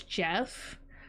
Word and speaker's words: Geoff: it's not spelled Jeff, it's spelled Geoff, so it's spelled like Geoff, but it's Jeff.